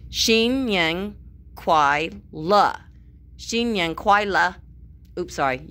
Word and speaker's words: 新年快乐: Xin Yang Kuai La. Oops, sorry. You can't say it like a question. It has to be very forceful at the end, my mother told me. Xin Yang Kuai La.